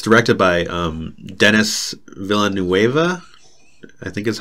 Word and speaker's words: Denis Villeneuve: But I'd also like to add on to Arrival and just say that it's directed by Denis Villeneuve. I think is how it's pronounced.